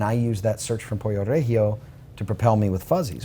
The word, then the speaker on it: Pollo Regio: you got burnt doing it was, how do you say it, pollo regio? Pollo Regio. I say Reggio, even though it's not the right way.